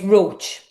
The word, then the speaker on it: Roche: How do you pronounce your last name as well? It's Roach. The spelling is very misleading.